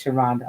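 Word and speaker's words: Sharhonda: Well, okay, so she said the H is silent, so it is Sharonda.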